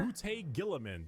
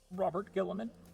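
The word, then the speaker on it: Roboute Guilliman: Robute Gilliman. That's how it's said. Robert Gilliman.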